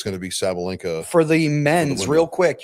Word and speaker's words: Sabalenka: I pronounced that right? Yeah, Sabalenka.